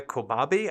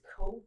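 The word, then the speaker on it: Kobabe: So, the book is called Gender Queer by Maya Kobabi. I hope I'm pronouncing that right. I wish I looked it up before the episode. It's Kobe.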